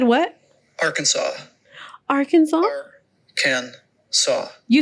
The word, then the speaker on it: Arkansas: Alabama no Arizona no Arkansas Aransas it's not Aransas it's Arkansas that's a deas the the S is is silent let's ask Let's Ask Google hold on